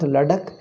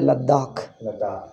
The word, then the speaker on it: Ladakh: they call it ladakh our people say south indians pronounce it is not ladakh in hindi they are pronounced it is a ladakh even name of our